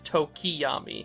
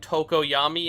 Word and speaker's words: Tokoyami: my dyslexia i have spent the whole video pronouncing tokoyami's name as tokiyami i think i blended together sukiyomi and tokoyami in my head when reading his name which